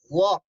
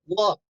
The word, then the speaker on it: walk: repeat repeat walk repeat walk never pronounce l walk good very good now